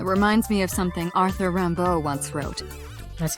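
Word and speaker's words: Rimbaud: me oh it reminds me of something Arthur Rambo once wrote that's how you pronounced that I is another meaning what you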